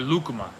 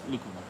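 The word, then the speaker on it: lúcuma: that fruit's so good I dream about lakuma or lukuma there's some pronunciation I always do wrong but it's lucuma yeah we can buy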